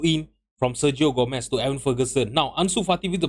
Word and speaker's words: Evan Ferguson: by everon Evan Ferguson why am I always pronouncing his name as everon it's Evan Ferguson with our first goal